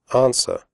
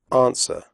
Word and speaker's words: answer: Answer. The W sound is silent. Answer. Do not say answer.